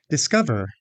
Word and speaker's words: discover: Discover. Did you guess the second syllable is stressed?